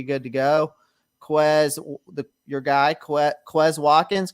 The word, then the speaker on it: Quez Watkins: Your guy, Quez Watkins, correct? Is that how you pronounce it?